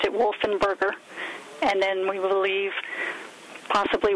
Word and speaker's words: Wolfensberger: Talking to someone who actually knew Ed, Ed Wolfenberger pronounced his name without the S, so he pronounced it Wolfenberger.